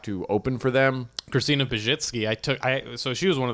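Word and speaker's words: Pazsitzky: Christina Pajitsky, so she was one of the first headliners I opened for.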